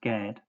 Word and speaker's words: Gad: H1410 gimmel dalot pronounced with the vow a as in father equals gad a Hebrew proper noun.